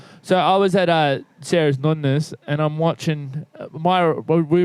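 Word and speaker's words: nonna: What do you say it like nunnas? Because that's how you say it in Italian, mate.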